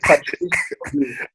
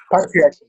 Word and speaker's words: patriarchy: That's like Patrice. 5. You can only have one word of the day. I don't know what's going on. How do you say that word? You say patriarchy.